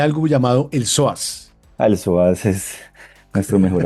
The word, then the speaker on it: psoas: O sea, el psoas nunca en mi vida, además se escribe con P. Para quienes de pronto no saben, se escribe con P. P-S-O-A-S, psoas.